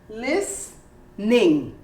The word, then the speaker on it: listening: hear the all memory listening this is an interesting word because it is a word that you omit the sound of the t but this is actually the letter that is completely omitted as in listening you don't really say listening or even less you don't say listening you say listening you don't hear the t and you don't hear the e lis ning how about camera you